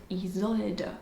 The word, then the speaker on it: Isolde: And you say it Isolde.